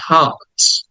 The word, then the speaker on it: heart: টাকে টেনে বলতে হবে হার্ট হার্ট এই আর্টটা বা র সাউন্ডটা ব্রিটিশরা উচ্চারণ করে না এজন্য ওটাকে সাইলেন্ট করে